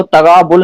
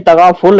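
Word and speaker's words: तग़ाफ़ुल: अच्छा, वो तगाबुल नहीं तगाफुल है। तगाफुल हिंदी में लिखेंगे तो त, ग के नीचे नुक्ता और बनेगा तगा, गा तगा। और फुल नहीं फुल, ह के नीचे नुक्ता फुल, तगाफुल, ते जी गैन जी, अलिफ फे पर तगाफुल।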